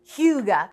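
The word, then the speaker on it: hygge: get breakfast at hyuga that's how you say it right yep hyuga so hyuga is danish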